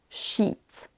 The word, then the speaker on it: sheet: Lorsque vous voulez prononcer le mot sheet, S-H-E-E-T, il faut prononcer un I long. Sheet. A l'inverse, S-H-I-T, shit, c'est un I court.